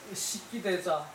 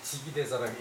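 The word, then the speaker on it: 識其大者: 때문에 그것이 사람에게 있는데 현자는 식기대자 이때 이게 지기대자라고 읽어야 돼요.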